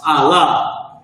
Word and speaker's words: Allah: That's pronounced Allah.